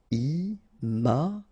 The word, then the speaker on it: imaginaire: Final E not pronounced. Imaginaire.